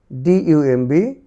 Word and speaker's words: dumb: DUMB, dumb, dumb, dumb. LAMB, lamb, lamb, lamb. এ পাশে দেখো টির পূর্বে বি, এটি সাইলেন্ট থাকবে।